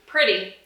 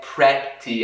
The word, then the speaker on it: pretty: Pretty. Pretty. E aí, esse esse o vogal de aqui, não é pretty, assim, é I. Pretty.